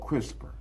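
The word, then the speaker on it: CRISPR: Pronounced crisper stand for clustered regularly interspace shorter palendroic repeat.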